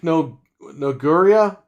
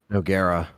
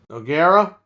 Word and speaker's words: Noguera: at Night, Richard, Dreadpool, Nick Noguria. Is that how you say his name? Noguera. Noguera.